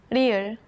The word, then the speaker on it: 리을: Its pronunciation falls somewhere between the English L and R.